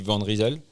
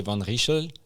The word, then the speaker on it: Van Rysel: Donc si je commence par la prononciation, nous on dit Van Risel. Van euh donc ça c'est à la française, 13 à la française. Euh et en fait Van Rizel c'est la traduction de qui vient de l'île en flamant. OK. L'orthographe est différent. Euh par contre dans la prononciation, c'est Van Rachel. OK. Donc si tu es belge, flamant, tu peux le prononcer comme ça. Et si tu es américain, Van Risel, euh ça marche aussi, quoi.